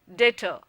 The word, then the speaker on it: debtor: If you pronounce it correctly, then the B is silent. However, for new learners of the language and for learners who have Bengali or Odisha as the mother tongue, there is a tendency to stress the syllable B.